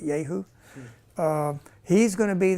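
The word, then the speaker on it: Jehu: in chapter 9 where ji who if you look at uh at is yahu in in Hebrew um not yaho but yahu um he's going to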